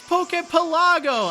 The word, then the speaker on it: Pokepelago: Then a lot of people, they were, like, saying, you're mispronouncing Pokepelago. It's Pokepelago.